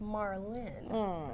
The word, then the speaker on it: Marlyn: So I started saying my name is Marlin. They're like, uhoh. Well, I thought I saw I Well, you didn't see an I. It's not in there. There's no eye there.